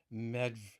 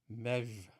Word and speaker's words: Medb: Or I've heard some of the Celtic scholars pronounce it Queen Medv. Medv.